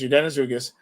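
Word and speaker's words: Yordenis Ugás: I didn't know that until I cannot pronounce his first name. Ugas was his last name. Yordenis Ugas. Yes, Yordenis Ugas.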